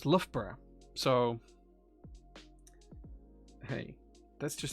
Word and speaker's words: Loughborough: that name that word with theramingo and he pronounced it luger beruga that's how he he he he he said it right uh well it's actually pronounced lovebra so hey that's just how things go luca